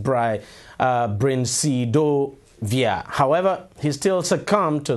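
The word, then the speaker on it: brincidofovir: experimental medication uh brain now that's a very difficult thing to pronounce but it's actually pronounced bry uh via however he still succumbed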